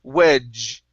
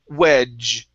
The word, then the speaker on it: wedge: okay so the uh the d g e when it's like that that equals a j like job okay so this is going to be wedge which almost almost get